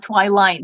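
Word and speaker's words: Twiline: 17 and um I you pronounced my nickname like Twi line like Twilight but with line at again Twilight I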